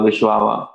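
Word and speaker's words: Wisława: poet post-war polish poet vishlava shrimbolska it's a little difficult to uh you know pronounce our names maybe to our indian ice towns but normally i've heard people call her vishwawa she is also a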